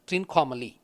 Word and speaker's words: Trincomalee: Once I felt that it is triangular, the only place that I could connect Shiva with a triangle is Trikonamalai, which is pronounced in English as Trincomalee.